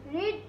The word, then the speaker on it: read: এরপরে রিড, এখানে কিন্তু এটার উচ্চারণ রিড হচ্ছে না। প্রেজেন্ট ফর্মে হয়েছিল রিড, এখানে হবে রেড।